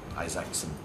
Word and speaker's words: Isaacson: This is for Steve Jobs by Walter Isaacson. That's how it's pronounced.